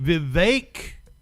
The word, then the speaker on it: Vivek: welcome Richard good evening Vivek okay that kind of sounds like cake but still thank you